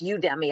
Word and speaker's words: Udemy: I'm a big fan of, I think it's pronounced Udemy.